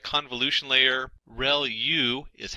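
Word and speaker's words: ReLU: there are multiple hidden layers like convolution layer real U is how that is pronounced when that's the rec linear unit that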